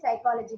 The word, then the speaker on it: psychology: And then psychology, you have PSY in the beginning, but those PSY letters shouldn't be pronounced.